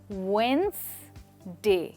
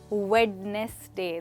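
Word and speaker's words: Wednesday: Well अगर आपने ध्यान से नोटिस किया है तो यहाँ डी की साउंड नहीं है, पहले डी की। तो इसका मतलब है कि हम इसको कहेंगे वेंसडे, ना कि वेडनेसडे।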